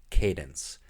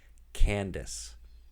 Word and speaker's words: Cadence: thinking about the name cadence you are relegating your daughter to a lifetime of mispronunciation because everyone will pronounce her name candace and that's she you